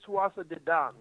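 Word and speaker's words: Tuatha Dé Danann: I believe, by the way, it's Tuatha De Dan.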